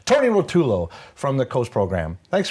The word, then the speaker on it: Rotulo: And I'm going to introduce Tony Ruffalo? Rotulo. Oh, I said it wrong already. I'm sitting here saying it in my head, and then I say it wrong. Tony Rotulo from the Coast program.